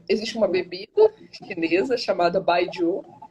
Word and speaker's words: baijiu: Mas existe uma bebida chinesa chamada baijiu, baijiu, né? A gente fala baijiu, hum. mas se escreve baijiu, que jiu é bebida alcoólica, né?